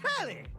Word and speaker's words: Telly: The name's Telly. Rhymes with Telly. Nelly. Like, whoa, Nelly!